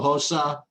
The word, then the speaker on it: Rosa: I like, well, it's spelled Rosa, but it's pronounced Hosa, I believe. Carol, we gotta get this. Carol Hosa, I like her at 8,700.